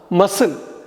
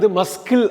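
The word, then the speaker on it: muscle: மசில், first word மசில்னா தசை. இந்த சி மஸ்கில் அப்படின்னு எழுதணும், ஆனால் மசில்னு படிக்கணும். இந்த சி சைலண்ட்.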